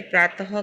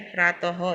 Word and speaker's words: प्रातः: फिर विसर्ग यानी ऐसे 2 बिंदियां होती है, तो इसका उच्चारण ह होता है। देखिए जैसे प्रातः काल, इसको प्रातः काल नहीं कहना है, प्रातः, ये बीच में जो 2 बिंदियां है ना उसको ह बोलना है, तो प्रातः काल कहना है।